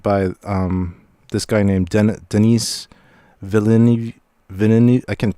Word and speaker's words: Villeneuve: Well, first of all, it was directed by this guy named Denis Villeneuve. I can't pronounce his name. I think it's Villeneuve.